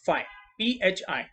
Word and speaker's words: phi: Okay, इसका pronunciation ध्यान में रखो। Okay, this is called as what, फाइव, PHI।